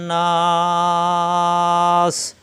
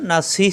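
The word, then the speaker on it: النَّاس: হয় বিন্নাস কুল আউজুবি রব্বিন নাস অর্থাৎ আইয়াতের সাথে মিলিয়ে পড়লে তখন নাসি থাকবে আর ওয়াকফ করলে নাস তিন আলিফ টান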